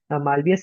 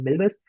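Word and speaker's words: Milvus: हमने जो है एम्बेडिंग सीखी, और उसके साथ साथ हमने जो है मालवियस सीखा, जिसका जो वो करेक्ट प्रोनाउंसिएशन है वो है मिलबस।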